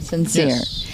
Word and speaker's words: Censere: have a question about the name sincere how did it sounds like so sincere like s-i-n-c-e-r-e but it's spelled c-e-n correct then s-e-r-e tell me about the